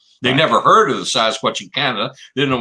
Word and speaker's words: Sasquatch: The best way to pronounce is take the word basket, drop the B, and put SAS in it. Sasquatch.